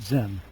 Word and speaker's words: Zen: The Chan sect first spread to Korea, and finally beginning in the 12th century on to Japan, where they pronounced it Zen in Japanese.